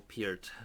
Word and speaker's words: Peart: And today I just wanted to make a little video talking about Neil Peart, or Peart. I think that's the correct pronunciation actually.